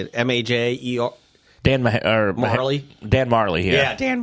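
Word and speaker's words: Majerle: Marley.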